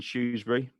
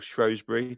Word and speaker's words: Shrewsbury: in a you're in you're in shoesbury or shrewsbury depending how you pronounce it or even telford